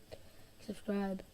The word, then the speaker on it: subscribe: You do want to stress on the second syllable, subscribe. Okay. Subscribe, subscribe, subscribe, subscribe, subscribe.